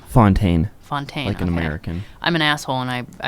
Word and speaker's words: Fountaine: I need to ask you how do you pronounce your your last name Fontaine Fontaine with an American I'm an